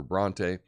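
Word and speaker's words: Brontë: And that is a marking placed over a vowel to indicate that it is sounded as a separate syllable. So naive or Bronte.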